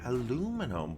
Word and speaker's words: aluminum: don't know I like do you pronounce it aluminum or aluminium I I like aluminium